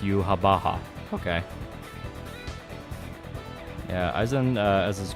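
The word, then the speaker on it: Yhwach: It's pronounced Yubaha.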